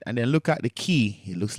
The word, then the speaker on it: chi: And then, look at the chi. It looks like an X, but it's not an X. It's a chi. Um aspirated K. Closer to a K, believe it or not.